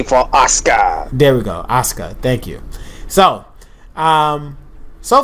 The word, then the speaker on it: Asuka: but nobody's ready for ASA there we go Asuka thank you so um so far it looks